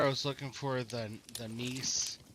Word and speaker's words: Gneiss: Yeah, I just assumed that the G is silent, so I just call it Nice.